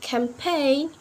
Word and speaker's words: campaign: letter G so a letter G can often can be silent to when the letter comes before n for example like sine um campaign campaign design foreign will not pronounce the letter G right and the